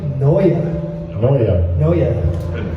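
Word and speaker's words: Neue: And by the way, you want to know how you pronounce the N-E-U-E? Yeah. It's actually Noya.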